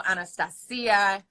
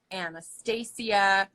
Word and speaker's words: Anastacia: but different countries and because of the CIA at the end people are so confused so they go anastacio anastasiya and a well if you're from Asia you got annotation cuz you can't pronounce the seed you know I accept it all I accept it all